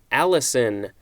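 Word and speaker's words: allicin: for a Treaty of Alliance next we have Allison no this is not the name this is spelled al i cin although i guess you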